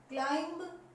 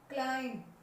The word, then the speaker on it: climb: क्लाइंब ब की sound नहीं आनी चाहिए, क्लाइंब।